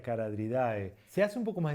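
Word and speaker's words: Charadriidae: La CH suele ser una pista de que esa palabra viene del griego, pero no se pronuncia como ch. Por ejemplo, los caradriformes, los de la familia Caradridae.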